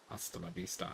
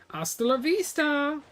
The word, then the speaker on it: Hasta la vista: Hasta la vista. I don't need to pronounce H so much.